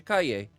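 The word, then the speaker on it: Calle: Now, is it Kaye or Kale? Because it isn't. I feel like it's Kaye. How do you say her name? How to pronounce Sasha Kaye? Oh, Sasha Kaye. She's an American actress. Ah, it's a Spanish pronunciation.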